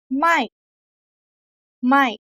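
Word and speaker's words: ไม่: word is short and stress let's try together my my because this word is pronounced similar to the other words so you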